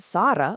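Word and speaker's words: صار: But sara with a heavy emphatic sod means to become.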